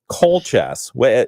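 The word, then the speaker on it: Keultjes: Colchess. And it's spelled K E U L T J E S.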